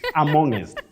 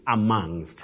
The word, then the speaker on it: amongst: not among bet M have you heard people saying amongest at any time in your life absolutely amongst amongest but bet we say amongst amongst not amongest and not among and